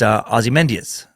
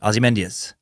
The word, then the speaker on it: Ozymandias: Most notably to me is her poem, and it's Ozymandias. I believe it's how you say it. It's a fucking tricky word. Ozymandias. Or Ozymandias.